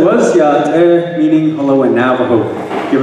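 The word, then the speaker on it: Yá'át'ééh: And what I said was Yate, meaning hello in Navajo. Give it a try, Yate.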